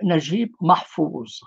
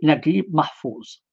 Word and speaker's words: Naguib Mahfouz: littérature du monde arabe le fameux najib mahfoud ou mahfoud prononcé aussi naguib mahfouz naguib mahfouz est né